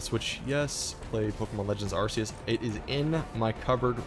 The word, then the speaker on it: Arceus: Or Arceus, however people like to pronounce it. I've always said Arceus.